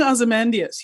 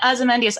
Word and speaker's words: Ozymandias: It's King Ozymandias. You have to have the invisible. Oh, I'm sorry. King Ozymandias.